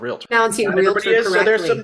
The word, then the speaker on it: Realtor: you're a member of the National Association of Realtors what's that thanks for pronouncing realtor correctly realtor yeah the other one